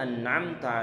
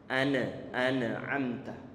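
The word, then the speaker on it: أنعمت: suatu kesalahan itu adalah di saat kita pantulkan bacaannya. Ana amta. Mestinya dialirkan sedikit. An'amta. Ini bukan bahasan kita. Itu bahasa masalah tajwid. Tayyib. Siratal ladzina an'amta 'alaihim ghairil maghdubi 'alaihim waladdallin.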